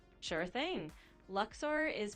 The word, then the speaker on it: Luxor: Luxor is pronounced like Luxor or sometimes Luxer.